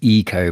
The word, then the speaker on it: Ico: It's Eco, by the way. The Japanese I is pronounced E.